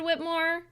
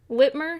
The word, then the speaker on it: Whitmer: stoke more anger toward whitmore whitmer sorry i always say whitmore but i always say her name wrong whitmer is there is